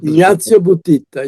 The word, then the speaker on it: Ignazio Buttitta: poem was written by Ignazio Butita. Is that's how to pronounce his name? That's right here. This book. Ignazio Buttitta, yes, Now, he's a now man.